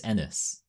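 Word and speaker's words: Ennis: I feel like it's enis because enis sounds too much like penis and nis is how it's pronounced.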